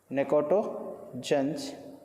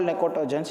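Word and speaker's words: pnictogens: can also call that necotogens. Why call necotogens? It is easily suffocation. For that we call nitrogen family is also called as necotogens. P is silent.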